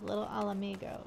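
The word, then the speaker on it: Little Ala Mhigo: And before you correct me on the pronunciation of Little Alamigo, yes, that is how it's pronounced. Trust me, you'll hear it plenty enough later. Why does it say I'm not growing the right way? Little Alamigo.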